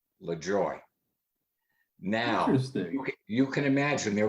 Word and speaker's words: Lajoie: and see he said my uncle and i always pronounced it le joy now you can imagine